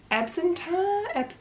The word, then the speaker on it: Absinthe: So we went to Absinthe, that's how you say it, which was a really cool like burlesque comedy show thing.